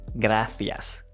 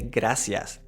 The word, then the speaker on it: gracias: So, in Spanish, the standard way to pronounce the C is with the th sound, which means that you say gracias. Gracias. You can also say gracias.